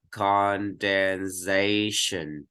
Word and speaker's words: condensation: Trọng âm sẽ rơi vào phía trước nó, vì vậy con có chữ này đọc là condensation.